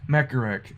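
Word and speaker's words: Mechawreck: a play on words mech is equates to sentry rec rhymes with mek mek a wreck mecha wreck there you go the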